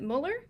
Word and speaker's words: Müller: today I have is it Müller is that how you say it yes okay and she's with